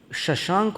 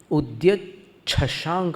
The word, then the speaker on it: उद्यच्छशांक: निकलने वाला है, शशांक शब्द ही निकलने वाला है, पर अभी उच्चारण में उसको शशांक उच्चारित न करके उद्यत छशांक बोलना है।